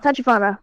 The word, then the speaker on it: Tachibana: How do you pronounce his name? Tachibana? Tachibana.